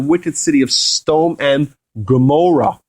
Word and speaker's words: Gomorrah: city of Sodom and Gomorrah, or it's pronounced in Hebrew, Amorah.